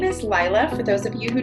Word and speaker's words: Leila: and that's partly why my name is spelled Leila but pronounced Lila both my parents both